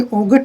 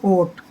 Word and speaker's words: ought: OUGHT, इसमें ओगट नहीं पढ़ते, इसको GH साइलेंट रहता है, इसको पढ़ेंगे ओट।